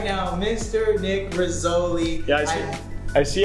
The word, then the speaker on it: Rizzoli: Oh, the first So if you didn't know, Rizzoli rhymes with cannoli, and Nick just happens to be Italian.